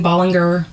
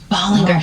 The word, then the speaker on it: Ballinger: Most people don't say it right. My whole life it was Colleen Ballinger. Ballinger.